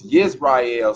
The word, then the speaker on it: Yisrael: Y'all know how it's spelled Mikael, but it's Yisrael. So it's Y, I think, Yizrael.